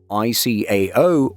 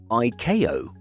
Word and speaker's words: ICAO: You might also be surprised to hear the two ways of referring to the International Civil Aviation Organization, ICAO or ICAO.